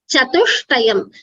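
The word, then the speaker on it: चतुष्टयम्: It should be chatuštayam. You see the alphabets, it's a Yeah, sh sure. and a ta. So shta. So chatuštayam.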